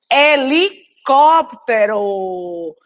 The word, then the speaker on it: helicóptero: Não se começa, né, a palavra helicóptero com E, se começa com H.